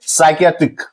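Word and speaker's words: psychiatric: इसी तरह से साइकियाट्रिक, तो यहां हम लोग देख सकते हैं पी साइलेंट रहता है।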